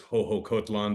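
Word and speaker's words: Xoxocotlán: There's also, where the airport is here is Hohokotlan, but it's spelled Shosho or Shoksho, XOXO. So the X's in some of the X's here are pronounced with H's, and in Oaxaca, it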